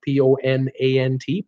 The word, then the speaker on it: Ponant: line before PO not P o n int ponent they're from France and I think in in France you'll pronounce of poni you won't even mention the T there are famous for